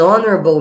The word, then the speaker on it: honorable: An honorable man, e não a honorable man, porque esse H é mudo.